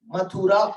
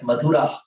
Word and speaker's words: Mathura: we can use and we can convert the tha to tha. Unani also says that. So it is Mathura also, not a problem. But in many of our scriptures, it is mentioned as Madhura.